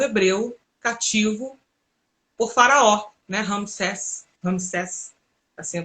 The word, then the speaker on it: Ramsés: Ramsés, assim a pronúncia.